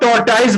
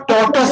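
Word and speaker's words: tortoise: इसको बहुत से लोग टॉर्टाइज बोलते हैं। क्या बोलते हैं? टॉर्टाइज। बट इसका जो रियल प्रोनाउंसिएशन होता है वो टॉर्टाइज नहीं होता है, इसको टॉर्टस बोलते हैं। क्या बोलते हैं? टॉर्टस। टॉर्टस। टॉर्टाइज नहीं बोलिएगा, टॉर्टस बोलिएगा।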